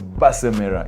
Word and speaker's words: Basimera: still have a rose basimera is that how they mention your name though but in my language you pronounce it but in english but in english english based mirror you know base mirror is here with us